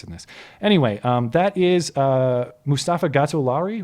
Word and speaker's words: Mustafa Gatollari: Anyway, that is Mustafa Gatollari, right? I'm pronouncing that right?